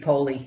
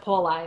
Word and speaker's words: Poli: Well, the I is pronounced E in Italian. Yes. So it would be Poli. It would be Poli. Yep. Yeah, but here we pronounce it Poli. A lot of people in Northeastern Pennsylvania just, I guess, with our accent or how he might have even Americanized it. Right? Exactly. He may have even Americanized his own pronunciation.